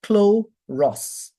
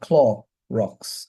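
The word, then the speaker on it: χλωρός: should be pronounced choros cloros clor Ross okay um so Americans will say Clorox for the bleach it's actually clor rocks not claw rocks I don't know if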